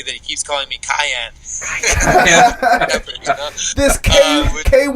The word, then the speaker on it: Kajan: So my actual name pronunciation is Kajan. Kajan? Yeah, much more like smooth and cool than Cajun.